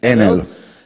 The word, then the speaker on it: Enel: Enel is, I think, in Italian we pronunciate it Enel.